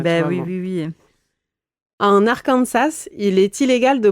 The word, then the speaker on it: Arkansas: Cependant, la prononciation française du mot avec l'accent sur la dernière syllabe a été conservée, contrairement à la prononciation anglaise qui met l'accent sur la première syllabe.